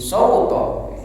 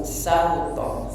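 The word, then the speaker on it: سَوْطَ: Jadi sauto, sauto, sa tambah u, sauto.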